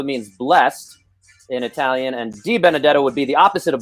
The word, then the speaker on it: Benedetto: I'm not going to mispronounce his name because I had a high school football coach. His name is Benedetto.